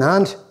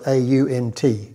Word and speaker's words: aunt: He had an aunt, that's spelled A-U-N-T, pronounced aunt. Aunt, is what you'd say.